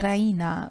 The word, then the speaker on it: Raina: she pronounces it the Reina with the stress on the e Reina she goes to